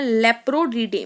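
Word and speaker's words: Leporidae: तो रैबिट को रखते हैं स्टूडेंट्स किसमें, इसको रखते हैं लेप्रोडीडे में। लेपोरी एक्चुअली, बीच में स्पेलिंग ध्यान से देख लीजिएगा, लेपोरी डे किसमें रखते हैं, लेपोरी डी बोल लो, लेपोरी डी में।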